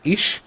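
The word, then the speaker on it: ich: সো প্রথমটা হচ্ছে আমি, যেটা আপনি অলরেডি জানেন যে আমি মানে হচ্ছে ইশ, ওকে, ইশ। আপনি অলওয়েজ ট্রাই করবেন আমার প্রোনাউন্সিয়েশনটাকে নোটিস করার, ওকে। কিভাবে বলছি আমি, ইশ, ইশ, এটা ইখ না, এটা ইশ।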